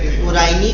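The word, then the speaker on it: Coryne: और Loeffler serum slope, हाथ ऊपर करना, किसको पता है एलएसएस किसके लिए यूज होता है? Very good. कुराइन, बेटा डिप्थीरिया बीमारी है, आप साइंटिस्ट हो। कुराइनी बैक्टीरियम डिप्थीरिया, कुराइनी कॉर्नी नहीं होता, स्पेलिंग देखिए।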